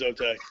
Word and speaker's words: Sotek: Sotek, how's that how I pronounce? Yeah, it says Zotek.